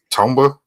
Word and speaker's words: Tomba: back in the day I thought it was Tomba that's how it's pronounced TBA TBA yeah yeah